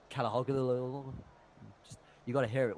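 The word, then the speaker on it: Çalhanoğlu: Like Calhanoglu.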